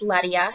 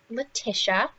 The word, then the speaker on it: Ledia: This is the Union Hill Ledia collection, and now it is pronounced Ledia. If you go onto the Union Hill product website and you check out their reviews, their own employees call it Ledia. It is not Letitia.